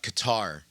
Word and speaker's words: Qatar: I can't find I cannot find a consistent pronunciation of that that country. I just go with cutter because so so less so with so is how many?